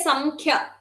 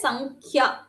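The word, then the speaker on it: संख्या: We will not say Samkhya, right? We'll say Sankhya.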